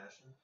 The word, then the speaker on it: Ashen: Ashin. Isn't it like? Is that how you say it? Yeah, Ashen.